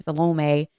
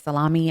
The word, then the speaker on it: Salome: Salome. My husband says salami, and I said, I don't think that that's how it's said, but nonetheless, I digress.